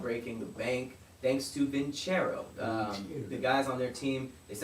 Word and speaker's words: Vincero: It's spelled like Vince Row, Vincero.